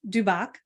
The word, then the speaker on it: Dubec: So this gentleman right here is Dubec, correct? Did I say it correctly? Dubec.